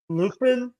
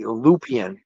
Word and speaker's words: Lupien: able to pronounce it Lin that's what everybody says but it's really lupian and it's yeah and it's French Canadian so in Canada it's